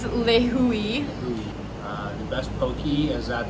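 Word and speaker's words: Lihue: We were like, how do we pronounce this? We thought the airport in Kauai was Lihu, also because of Frozen, big summer blowout. But it's Lihui.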